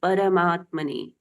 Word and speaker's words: परमात्मने: के साथ में श्री परमात्मने, परमात्मने, परम आत्मा, परम आत्मा, परम, र का पूर्ण उच्चारण होगा।